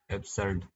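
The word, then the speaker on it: absurd: और इसका एब्सर्ड, एब्सर्ड इसका राइट प्रोनाउंसिएशन होता है बेकार, बेवकूफ़ी भरा, बेतुका।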